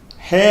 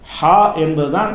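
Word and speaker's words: حاء: ஹே என்ற அந்த எழுத்துக்கு பெயர் கிடையாது.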